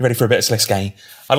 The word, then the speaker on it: Sliske: we're gonna go full panto now because it's sliske um we've got mod Raven Stu and mod Roy hello hello you ready for a bit of sese I'd like to start with pronunciation which sese